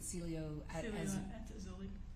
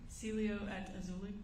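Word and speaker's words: Cielo Azul: the aelia how do you say it again Celio at auli say it one more time Celio at auli okay was that the name of the apartment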